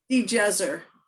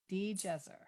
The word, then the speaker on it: DiGesare: of your last name the jazzer djezzer like digiorno the pizza which is yummy it